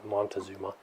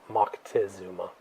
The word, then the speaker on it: Moctezuma: by the name of Moctezuma, or Montezuma, as they say here in the States, but it's Moctezuma is the appropriate pronunciation.